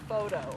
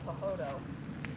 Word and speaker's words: photo: I think he was 3, and he saw the word photo, and I was explaining to him that's not pronounced pahodo, and how wrong it was that PH sounds like an F.